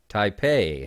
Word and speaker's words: Taipei: Taipei has 3 cubes. I said it right. Some people mispronounce it.